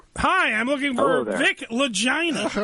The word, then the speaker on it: Lagina: I'm looking for Vic legina all right this is Vic legina yeah it rhymes with vagina it's Vic legina Ah that's by the